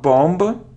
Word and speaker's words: bomb: it isn't bomb not bomb not bom it's bom bom it's a short sound o boom so without it without it we don't pronounce b so next word it